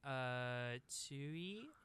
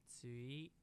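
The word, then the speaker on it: Tzuyu: Chewy, I believe. Some people call her Chewy, like Chewbacca, but I feel like they pronounce it more like Tsui in Okay, the, like, gotcha.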